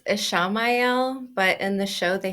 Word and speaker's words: Ishamael: is it spelled the same as Ishmael, or is it a little different there? Ishamael, I think. Oh, there's an extra syllable in there.